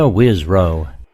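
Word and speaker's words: Wisrough: Wisrow.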